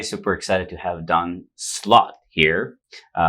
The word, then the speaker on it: Slaught: Hey everybody, super excited to have Don Slaught here. It's funny, I like the way that you spell his last name, right? It's not slot like a slot machine, but It's pronounced that way.